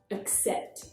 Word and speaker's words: accept: In accept, it's the lazy schwa sound, accept.